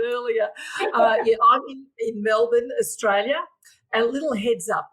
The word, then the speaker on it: Melbourne: uh yeah I'm in Melbourne Australia a little heads up it's Melbourne not Melbourne let me get my